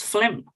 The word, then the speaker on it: phlegm: right the non-flim well this is a pronunciation tip is phlegm with an F pH always like an F okay so consider